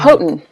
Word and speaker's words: Houghton: How do you pronounce the name? Houghton Mifflin? Houghton.